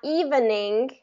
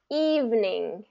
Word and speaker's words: evening: different different perfect okay not evening but evening evening good and not every but